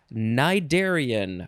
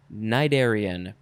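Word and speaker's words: cnidarian: fart joke all right our last word is nidarian why do we have a word that starts with na it is spelled c-n-i d-a-r-i-a-n cydarian noun from circa 1909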